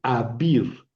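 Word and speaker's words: אַבִּיר: Aquí tenemos otra vegad quefat, perdón, abir. Abir poderoso es alef con patah debajo. Bet y girek y abir abir.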